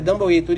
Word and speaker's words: Dumbleator: E isso, Dumbleator, é assim que se pronuncia? Dumbleator, isso.